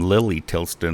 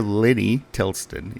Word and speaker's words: Lenny Tilston: Anyway, Mayor Lenny Tilston is the correct way to pronounce his name.